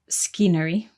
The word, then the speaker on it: scenery: In the word scenery, we have another silent letter. So scenery is spelt S-C-E-N-E-R-Y, but the C is silent at the beginning. So we don't say scenery, we say scenery.